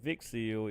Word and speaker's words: Vixil: We're probably going to raid on over to Vixil. It rhymes with Pixil.